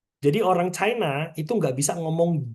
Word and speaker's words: qi: Jadi suaranya itu C. Bukan S ya. Kadang beberapa orang bacanya ngomongnya pakai S. Kayak si. Si. Si. Si. No. Bacanya bukan S. Bacanya C. Tapi tambahin H.